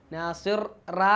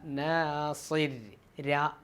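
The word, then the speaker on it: ناصر: നാസിർ റാ അല്ല, നാസിർ രാ. കട്ടി കുറച്ച് റാ, അതിനെ കട്ടി കുറച്ച് തർക്കീഖാക്കിയിട്ട് രാ എന്ന ഉച്ചാരണമാണ് വരിക.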